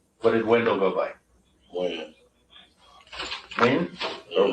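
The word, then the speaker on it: Wynn: Win. Win or Wan?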